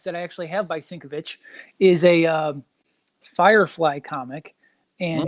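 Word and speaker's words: Sienkiewicz: so apparently triple CS collectible says that it's pronounced syncovich I've been saying it wrong the whole time that's what I said sink of it ship yeah I've been saying I suck I don't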